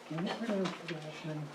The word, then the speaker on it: Everroad: Everroad, EVERROAD, like road forever, ever road.